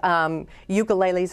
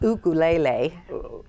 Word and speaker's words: ukulele: the third book is called Ukuleles Undercover, which in Hawaiian it's pronounced ukulele. So, but I always, because we say it as ukulele, that I kind of use it that way.